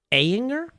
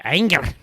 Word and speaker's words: Ayinger: Well, I mean, it's German, so I mean, you need to make it sound like you're mad. Ayinger. Yeah. Okay. Yeah. Ayinger.